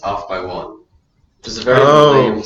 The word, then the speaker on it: Off X1: So it was called Pronounced Off by One, which is a very lame song title.